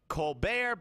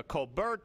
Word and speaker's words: Colbert: between himself and Elizabeth Colbear Bush or Colbert Bush. I mean her her brother is Steven Colbear but she pronounces it Colbert or either way whatever.